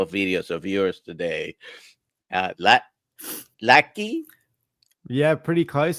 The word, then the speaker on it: Lachy: Lachy? Yeah, pretty close. So it's Lachy. It's Lachy. A weird Australian name. It's spelt strange.